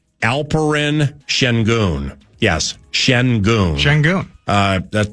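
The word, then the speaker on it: Şengün: oh wait it's sen the sen part is pronounced oh similar to shun but it's shen so yeah shenon shenon I dig it wasn't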